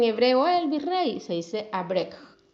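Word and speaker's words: אברך: Se dice abrek.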